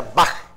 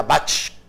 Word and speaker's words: Bach: destacan johann sebastian bach que se pronuncia bajo y novak porque era alemán si fuera castellano sería bach como en alemán se